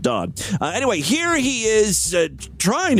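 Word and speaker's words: Dade: I don't know, D-A-D-E. I pronounce that Dodd.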